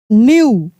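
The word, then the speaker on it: knew: Strong get the night night न्यू देखिए यहां पर भी के साइलेंट है।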